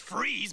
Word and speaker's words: Fries: It's freeze, but you spell it fries like French fries. Weird. It's German.